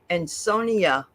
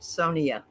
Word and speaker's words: Sonia: And Sonia, she said that that's how you pronounce her name, Sonia, not Sonia.